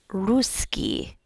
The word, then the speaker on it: русский: And you know also with pronunciation it's not ruski ruski it's ruski. You have that emphasis on the u sound. Ruski and you also have the double cs. So I have to train my brain to kind of like hang on hang out on that s sound.